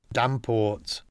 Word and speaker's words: Davenport: keeper to the Earl dport the Lancer and chesher pronunciation of Davenport Jack Ogden another well-known